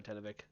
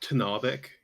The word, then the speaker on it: Tanavik: All right, let's go, Tenevik. Excuse me, it's pronounced Tanavik. Is it Tenavik? It's Tanavik.